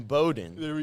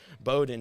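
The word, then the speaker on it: Bowdoin: All right, so we're going to Bates in Bowden. I know there's it's pronounced Bowden.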